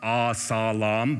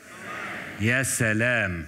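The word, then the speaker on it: يا سلام: It's not Asalam, but Salam. Yassalam.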